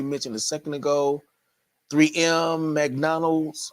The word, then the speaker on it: McDonald's: a second ago 3M McDonald's or as my dad would pronounce it MacDonald no s I have no idea